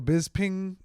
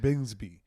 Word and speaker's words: Bisping: like Godfrey on it Michael Bings ping Michael Bisping the Bisping the UFC fight I learned how to really say his name last night I've been saying bsby it it's I thought it was bisbing bisbing